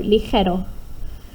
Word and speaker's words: ligero: on españoles, toman algo ligero, this sound, it sounds a bit like a H, but if you have phlegm in your throat, ligero, and that's a G.